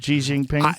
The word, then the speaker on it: Xi Jinping: Xi Jinping?